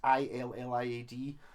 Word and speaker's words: Iliad: i think it's pronounced i think it's ill iad boundary model and it's